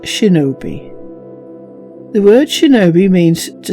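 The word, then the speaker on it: 忍び: In the native kun'yomi reading, it is pronounced shinobi.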